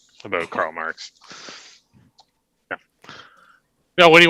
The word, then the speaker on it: Marques: Majors out there yeah my name's marks it's spelled slightly differently but I was named